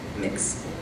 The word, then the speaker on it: Mx: It's spelled MX. Mix.